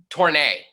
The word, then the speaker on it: Tornay: Tornay.